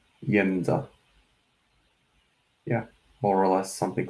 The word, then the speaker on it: Jedza: maybe, you would say Jedza. So like first syllable of the name Yennefer, so Jedza, Jedza.